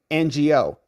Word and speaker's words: Ngo: us Glenn Croy says Andy NGO is pronounced like this Andy NGO thank you Glenn thanks